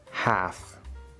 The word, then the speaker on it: half: Half, calf. These are silent L's. As we will learn soon, A with a silent L is usually pronounced with the fifth vowel sound, ah. However, these two words are pronounced with the fourth vowel sound, laugh, yeah, than.